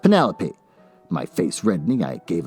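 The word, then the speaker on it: Penelope: you pronounce your name Penny lope why you're not pronouncing your name right uh do you realize that you're saying Penny like a pasta and lope like a dog running across field Penny it gave me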